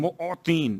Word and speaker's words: معطین: یا خیر المعطین, معطین میم عین توئیں یہ نون معطین موتی.